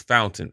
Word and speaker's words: Fountain: listening to podcast or music or whatever use fountain I said it wrong before like the first